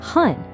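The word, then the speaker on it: 半: The character is han, pronounced han, and it just means half.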